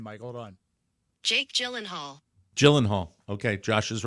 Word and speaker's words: Gyllenhaal: you I'm I think this should be a pronouncer of his name Mike hold on Jake Gyllenhaal Gyllenhaal okay Josh is Right Gyllenhaal Jake Gyllenhaal yeah that's Carrie Jake Gyllenhaal thank